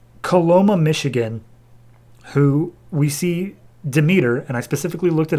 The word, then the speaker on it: Demeter: we cut to coloma michigan who we see demeter and i specifically looked it up how to pronounce it so don't give me any of